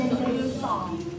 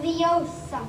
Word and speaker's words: Leviosa: Wingardium Leviosa. Wingardium Leviosa. Stop. If you're going to take someone's eye out, besides, you're saying it wrong. It's Leviosa, not Leviosa.